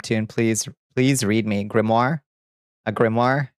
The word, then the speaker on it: grimoire: Like a fake French reading kind of with a quiet R. Grimoire. And Bonnie pronounces it is how I read it from the web tune. Please, please read me. Grimmoire.